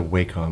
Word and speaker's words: Wacom: so what I say I think it's a wake home I think that's what I think that's supposed to be the industry true pronunciation of the brain anyway Wacom just sounds dirty to